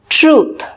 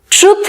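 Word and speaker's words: truth: Next है ट्रूथ। ट्रूथ नहीं, ट्रूथ, ट्रूथ। अगर आप इसको लंबा बोलेंगे तो इसकी प्रोनाउंसिएशन सही होगी, और अगर आप इसको छोटा बोलेंगे तो इसकी प्रोनाउंसिएशन सही नहीं मानी जाएगी।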